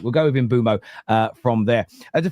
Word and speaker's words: Mbeumo: So people have also got to remember that you're taking like a word from another language and then you're giving it to a nation like England where within 200 miles we sound foreign to each other. So yeah, it's one of them ones, but we'll go with Imbumo.